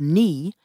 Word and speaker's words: knee: For example, the k and the w at the beginning of knee and right were lost.